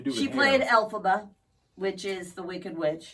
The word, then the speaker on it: Elphaba: Glinda and Elphaba in the Broadway Elphaba, that's how you say it, production.